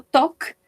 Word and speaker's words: talk: Students, remember, acá en este verbo, en el verbo talk, no vamos a pronunciar la L, ¿sí? No la vamos a pronunciar, es como si no existiera. Y esta A la vamos a pronunciar como una O, ¿sí? Como una O. Entonces nos quedaría como talk, talk, yes?